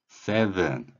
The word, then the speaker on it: seven: 영어에 V 발음이 있는데요. 이 소리가 납니다. 마찬가지로 윗니로 아랫입술을 물고 윗니로 아랫입술을 물고서 목젖이 울리고 정말 어렵죠. 윗니로 아랫입술 물어야 되는데 이렇게 발음을 해본 적이 여러분들은 거의 없기 때문에 이 소리가 어렵습니다. 목젖까지 울려야 돼요.